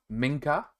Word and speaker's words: Minka: as possible because I am very bad at pronunciation so I found out that is Minka so I want to make sure I do